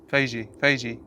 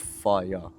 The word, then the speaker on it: Fage: Fage. It's called It's Fage or Fagy or something like that. But on the fucking. There's a whole advert about how to pronounce it. It's pronounced fire, like that. Fire.